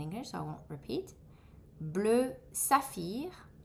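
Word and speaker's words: bleu saphir: Blue jun deep blue that's in English so I won't repeat blue safir blue safir blue aby blue abby blue zonar blue zonzar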